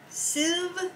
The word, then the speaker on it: sieve: Sieve? How do you say that? I would say sieve.